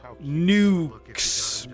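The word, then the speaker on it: Newkes: Nukes. But it's spelled N-E-W.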